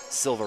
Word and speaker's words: Silva: Marquez Romeo Silva but the coach is like no no they pronounce it silver Romeo I'm like gotta be